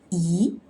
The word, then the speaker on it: 一: So the E need to change to E, the second tone. Why? Because before fourth tone, you need to read second tone. So let's read together. 一个, 一个.